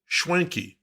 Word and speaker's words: Swankey: But everyone I talked to before this interview pronounced it Schwanky, as if there was an H in there between the S and W.